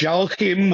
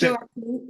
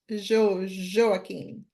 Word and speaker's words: Joaquim: I think what you're trying to say is Joaquim, most probably. You see, That's Joaquim, Joaquim. That's it. There you go. So that's the Brazil. Yeah, that is. It's not easy to pronounce the J. Yeah, but Brazilians we say Joaquim.